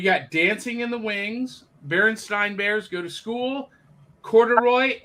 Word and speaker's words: Berenstain: Is it Berenstain? That's the debate, isn't it? Berenstain. So my whole life, I always knew it as Berenstain. Can clearly see it, like in my memories of how it's spelled, but it's Berenstain. Berenstain, yeah. Which is wrong. There's a lot of conspiracy theories about parallel timelines involving Berenstain Bears. From Southern culture, and it's Bernstein Bears.